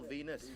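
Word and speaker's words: Venis: Number 9, Val Venus, movie Oh, producer. this one, Venus no. rhymes with penis.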